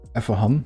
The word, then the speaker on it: Efehan: Usually you would say it like Effe or Effahan, which is like the Dutch pronunciation of it or the Turkish pronunciation of it.